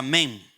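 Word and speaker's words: מ: Significa, se pronuncia men.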